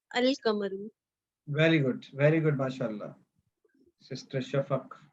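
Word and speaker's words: القمر: And in Al-Kamaru, we are pronouncing Lam, Al-Kamaru.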